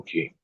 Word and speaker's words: Qin: up against the key no King spelled q-i-n that's how I spelled um or Qin or or it's either x i e we all spelled uh King the kingdom of King